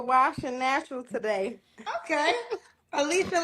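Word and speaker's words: Elisha: Alisa like Alicia Keys. Um yeah, but I spell it with an E. E L I S H A.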